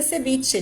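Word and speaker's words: cebiche: escrito com v e ele pode ser escrito com B com la ubbe ou com la b a pronúncia é sebit de qualquer maneira e a semana passada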